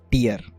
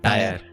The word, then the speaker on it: tier: yeah this is like you pronounce tear as tear yeah yeah i used to pronounce it as tyre who called you out